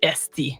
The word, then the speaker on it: hostie: curse words themselves, but the way they sound in Quebec French is often not the way they look written. So like, hostie is written Hostie, but it's pronounced esti is the way that